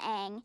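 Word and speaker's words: Aang: That rhymes with Mang. And you've got some pretty big ears, don't you? I guess. Well, Ang, it's very nice to meet you.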